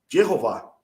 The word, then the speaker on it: Jeová: é aquele descrito no que a gente pronuncia corretamente como Jeová Jeová ou não tem para